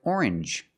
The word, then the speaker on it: orange: Usually when you see NGE, it makes the NG sound, like orange or exchange. You make the N sound, not the nasal sound, just and the J, like juice. J.